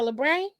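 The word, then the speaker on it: labret: Labre? A labre?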